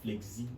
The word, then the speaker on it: Flezzy: exclusive dr flexi okay i actually pronounced flexi at first now flex z flexy flexy worry boy